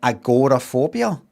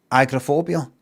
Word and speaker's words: agoraphobia: Um, and then I don't know, the last 10 years I'd hear some Americans say agorophobia like agoraphobia. It's not just agrophobia. Yeah, I know it's agora, but you know, just agra just kind of quickly.